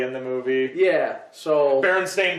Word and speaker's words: Berenstain: the movie yeah so berenstain bears is the prime example it's spelled sta i n and everybody calls the st ein so exactly so that's